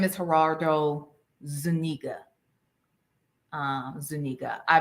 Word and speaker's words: Zuniga: Zuniga. I mispronounced his name before.